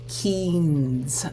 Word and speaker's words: Keynes: And I know sometimes his last name can be hard to pronounce, but it's Keynes.